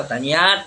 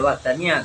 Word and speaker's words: wahdaniyah: Kalau wahdaniyah ya wahdaniyat, tapi sebenarnya bacanya ya wahdaniyah kalau bahasa Arab.